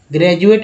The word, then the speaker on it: graduate: ग्रेजुएट का जी यहाँ पर लेते हैं GRADUATE, ग्रेजुएट में डी का उच्चारण ज के रूप में हुआ।